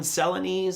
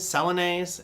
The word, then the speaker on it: Celanese: space uh next we've got ce i always mispronounce this one celani's celanese this is a materials company out of texas